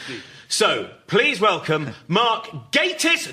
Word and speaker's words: Gatiss: Despite that, there is still a 49% chance that when introduced, his name will be mispronounced. Yes, please. So, please welcome Mark Gatiss, not Gatiss.